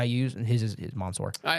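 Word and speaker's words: Mansoor: Oh, I figured out it is Monsour.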